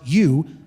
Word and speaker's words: eu: The prefix or the adjective you, epsilon in Greek, pronounced you, is the adjective meaning good.